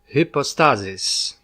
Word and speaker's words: hypostasis: we'll talk about term the tie will first pronounce in its original Greek hypostasis the reason why I used the Greek term